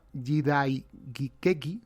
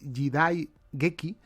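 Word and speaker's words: 時代劇: en esta palabra japonesa jidai geki, la he pronunciado mal, es jidai geki ya está la palabra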